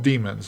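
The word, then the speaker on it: daemon: in Linux they're called demons it's spelled D AE m o NS but it's pronounced demon and then you also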